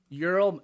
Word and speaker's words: Ural: that what'd you call oral mountains ural ural i think it's spelled u-r-a-l okay okay but check